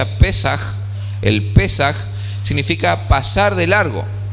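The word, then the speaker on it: פסח: palabra pascuas es un término en hebreo se pronuncia a pesar el pesaj significa pasar de largo y pasar de largo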